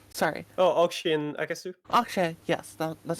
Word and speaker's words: Okrzej: Okrzej, yes, that's how Yeah. you pronounce it.